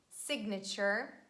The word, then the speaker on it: signature: please make sure that you pronounce that g when this combination stands in the middle of words and we say signature ignore magnificent and magnificent